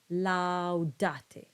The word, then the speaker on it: laudate: So it's best to think of the diphthong and the next syllable to be connected, laudate.